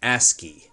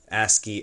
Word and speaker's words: ASCII: We often say this ASCII as an ASCII. That's how we pronounce that. ASCII STL.